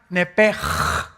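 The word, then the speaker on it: נפש: Esa palabra alma es la palabra hebrea Nepesh, así como suena, N-E-P-E-S-H, Nepesh. La letra o las letras SH en el hebreo se pronuncian en hebreo como J. Entonces se pronuncia Nepej.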